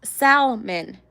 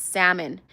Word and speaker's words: salmon: Like it's salmon. That's how I would say it all the time. And somebody corrected me and saying, "No, Maria, that's not how you say it. It's salmon. The L is silent."